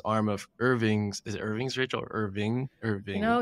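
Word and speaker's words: Irvins: arm of Irving's is Irving's Rachel Irving Irving. I always say it wrong, Djenaba and/or Rachel: that's confused me. I'm going to say it's Irvin's, but Marlin: Okay, we'll say Irvin's.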